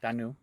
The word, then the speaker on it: Danu: And then Dana was looking for 3 different gods and found Danu? Is that how it's pronounced? Correct. Danu. Yep.